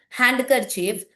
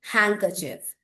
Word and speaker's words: handkerchief: Don't call it handkerchief, you should say handkerchief.